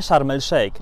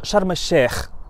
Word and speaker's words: Sharm el-Sheikh: Więc na przykład poprawna wymowa Sharm el-Sheikh to nie Sharm el-Sheikh, tylko Sharm el-Sheikh, dlatego że shin, litera shin, jest właśnie literą słoneczną.